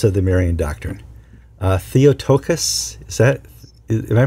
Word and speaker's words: Theotokos: about the tenants of the Maran do uh theotokos is that am I pronounce it that right theot theot yes okay